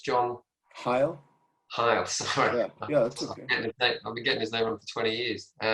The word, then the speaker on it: Heil: How do you pronounce his surname? Sorry, it's John Heil.